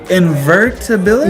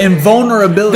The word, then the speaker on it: invulnerability: Invertibility? No, not invert. Ability that I'd never get hurt. What is that? Okay, invulnerability.